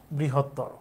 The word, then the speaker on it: বৃহত্তর: শব্দে আর এইটা হচ্ছে বৃহত্তর এটার উচ্চারণ লিখতে গেলে র সাথে ও লিখতে হবে বৃহত্তর না বৃহত্তর তারানে